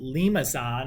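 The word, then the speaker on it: limaçon: talk about here so this word here is pronounced limazon it's somebody's last name it's one of those c's with the tails on it foreign language people what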